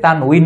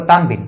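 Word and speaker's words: تنوين: দুই জের দুই পেশকে তানউইন বলে, অনেকে বলে তানবিন, তানবিন উচ্চারণটা ভুল, তানউইন, কারণ ওয়াও এর নিচে কাসরা আছে, জের থাকলে এর উচ্চারণ হচ্ছে উই, তানউইন।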